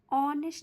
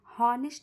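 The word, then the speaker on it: honest: जैसे एन ऑनेस्ट मैन यहां हॉनेस्ट नहीं पढ़ेंगे। ह इसमें क्या रहेगा? साइलेंट रहेगा।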